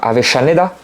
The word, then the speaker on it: Avellaneda: T'as le Racing et Independiente qui sont à Avellaneda, qui s'écrit Avellaneda, mais les deux L se prononcent.